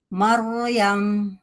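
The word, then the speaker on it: مريم: Gimana ro tebalnya? Maryam. Ee jadi si rnya kalau tebal jangan ditarik bibirnya. Maru Maryam.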